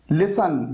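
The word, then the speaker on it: listen: अब यहां पर देखिए आवर, यहां पर एच साइलेंट है, पाम यानी हथेली, यहां पर एल साइलेंट है, लिसन यहां पर टी साइलेंट है, डाउट यहां पर बी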